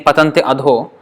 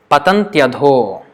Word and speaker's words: patantyadho: Instead of saying patanti adho, patantyadho, patantyadho, patantyadho, as if it is. We will write it here. Patantyadho, as if it's one word. So pronounce it like that.